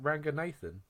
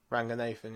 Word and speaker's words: Ranganathan: Ranganathan. Ranganathan, yeah.